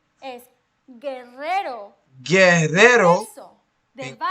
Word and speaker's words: Guerrero: But if it doesn't have a diéresis, it's silent. Silent. Guerrero. Queso. Guerrero. Guerra. Guitarra. Queso. Oh. Vergüenza. Vergüenza. Lingüística. Unless you see the diéresis, you don't pronounce that U.